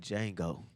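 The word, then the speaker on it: Django: what's your name like Jango the D is silent it will be tonight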